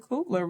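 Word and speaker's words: Coogler: to have and even to see like Ryan Coopler really stepping into his own is that how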